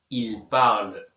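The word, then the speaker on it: parlent: இல்பல் இல் பாவல் okay கடைசி எண் தேக்கு உச்சரிப்பு கிடையாது ஓகே இந்த மட்டும் இந்த வினைச்சொல்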